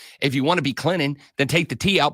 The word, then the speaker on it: Clinton: of where Lonzo Clinton Clinton sorry Clinton I can see the T it's on your sign if you want to be Clinton then take the tea